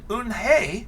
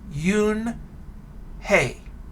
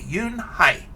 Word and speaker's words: Unhei: notice i pronounced it oon hey because i thought that's how it sounded but she tells us it's spelled u-n-h-e-i and it's pronounced yoon hey you high excuse me yoon hai oh it's yoon hey